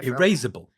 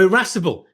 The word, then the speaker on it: irascible: Erasable? Erasable? Oh, irascible.